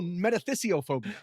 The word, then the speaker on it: metathesiophobia: thought we were doing something different metys oh metathesiophobia I said it wrong metathesis meaning the transposition